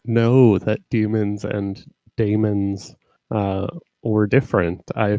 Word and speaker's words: daemon: I actually did not know that demons and daemons were different. I figured that was just a stylistic choice. Yeah, I think it's like, well, first of all, you pronounce daemons as demon in English, so right.